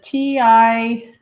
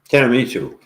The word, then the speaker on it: tiramisu: Is it TINAMISU? Mm-hmm. So tinamisu? Tinamisu? Tiramisu. Something. Tiramisu Bailey. Tiramisu. Oh, there. Oh, you mean tiramisu. Okay, that's what I mean. Mm-hmm. Tiramisu?